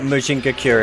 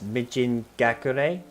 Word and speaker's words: Mijin Gakure: Is it Mujinga Cure or is it like Mijin Gakure or something? I want to pronounce it properly. I remember when I played Final Fantasy XIV, when, what's the second one? It's Mijin Gakure? Okay, I'll do that from now on.